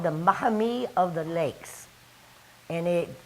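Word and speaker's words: Maumee: mommy river which the mommy where it is here in the mouth of toledo that's called the mahame of the lakes and it it actually because nobody can pronounce it call it mommy now there's always been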